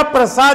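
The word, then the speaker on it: Prussia: क्या कर रहा था कि पर्सिया कहते हैं तो उसका मीनिंग हो जाएगा ईरान, प्रसा कहिए उसको, उसका करेक्ट प्रोनाउंसिएशन है प्रसा, जो आज जर्मनी के नाम से जाना जाता है।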